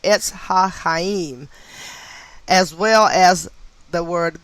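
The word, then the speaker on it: Etz HaChayim: H-A, capital C, then H-A-Y-I-M, and that is pronounced Etz HaHaim, as well as the word gematria and Sephirot, Sephirot.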